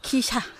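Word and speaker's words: 記者: 자가 안 되는 겁니까? 기샤. 기샤. 네. 자를 샤라고 읽는구나.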